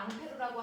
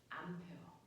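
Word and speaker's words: Ampère: 프랑스 사람이라 앙페르라고 한 건데. 됐어. 이름이 실제 이름이 안 펴는데 이걸 미국 놈들이 뭐라고 읽었어? 암페어.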